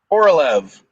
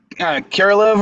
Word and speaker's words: Korolev: It was Korolev. Not the Koral. I think you said Kirilev or something like that. It's only they put an extra I in there.